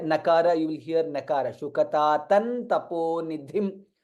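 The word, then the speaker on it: शुकतातं तपोनिधिम्: Shukatatan Taponidhim. Dha is Mahaprana. Shukatatan Taponidhim. That's how it needs to be pronounced.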